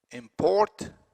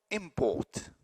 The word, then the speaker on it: import: a bourbon and now yes there is a difference in the placement of the stress but the the vowel is the same no change in the vowel quality between a verb and a noun import import same vowels but different placement of